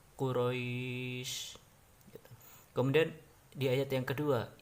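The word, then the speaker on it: قريش: bi'ih bi'ih dan Laila dan Quraisy itu adalah mad layyin Ya dibaca panjang habis Aduh harokat bisa empat harakat atau 6 harakat cara membacanya adalah dengan santai yaitu Quraisy jangan Quraisy atau quroisy itu gak boleh jadi santai saja Quraisy kemudian dia ayat yang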